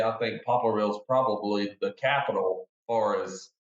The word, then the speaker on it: Poplarville: Yeah, and you guys are in make sure I'm pronouncing it right, Poplarville, Mississippi?